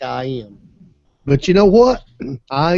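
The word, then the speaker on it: EyeEm: give you an example I am that's e eem pronounced I am is a it's a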